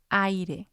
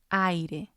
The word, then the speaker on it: aire: For example, aire, aire. And this is how the syllables are broken down. A, I are together because A is strong, I is weak. And then we have the second syllable, which is or E. But you still pronounce all of the letters. With the AI, it's just a little bit quicker. Aire.